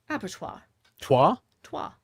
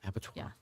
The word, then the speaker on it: abattoir: Abatto. As in like French.